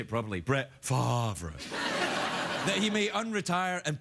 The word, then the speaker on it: Favre: The rumors that Brett Favre may, I should say it properly, Brett Favre, that he may unretire and play for the